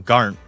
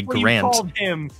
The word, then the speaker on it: Garnt: Well, because nobody knows how to say his actual name, Garnt. They all think that it's a typo and say Grant.